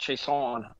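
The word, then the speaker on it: Chaisson: Pretty sure the last name is pronounced Chason.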